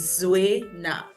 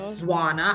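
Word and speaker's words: Zuwena: So the proper pronunciation is Zuena. I get Zuena. I get Zuena. I get Zwana.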